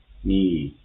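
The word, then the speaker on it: 你: So N here is mapped to the English letter N has the same pronunciation and here I is mapped to E E in English as in the word E C. So if we put n and e e together then we can get the pronunciation of the first opinion for the first character that is ni and plus tong it will be ni and for the second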